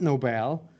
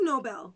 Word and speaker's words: Nobel: so what what it's not nobel it is nobel nobel peace prize okay okay what am